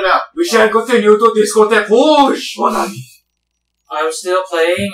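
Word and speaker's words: Discothèque Rouge: Discotheque Rouge!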